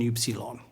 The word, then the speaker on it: Upsilon: Upsilon. It's pronounced like the French U. Keep the mouth shaped as you would to pronounce E, but then vocalize or pronounce the oo sound.